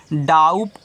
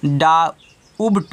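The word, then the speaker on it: doubt: ओ यू बी टी तो यहां देखिए टी के बाद बी आया तो बी साइलेंट है तो इसको आप डाउट नहीं पढ़ोगे क्योंकि बहुत बच्चे होते हैं इसको डा उबट पढ़ देते हैं नहीं इसको आपको डाउट पढ़ना है क्या पढ़ना है डाउट पढ़ना है डा उबट नहीं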